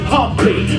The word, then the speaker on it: Humpty: let me introduce myself my name is humpty pronounced with an umpty yo ladies oh how